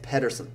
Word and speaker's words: Pedersen: Cliff, and I'm going to say it, Pedersen. Is that how you say it? He said, make the D a little silent. So, person, all right. Sounds like person.